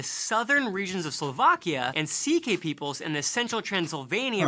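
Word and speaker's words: C.K.: note the comedian louis ck is actually part hungarian but the ck part isn't his initials but the pronunciation derived from sike i get it otherwise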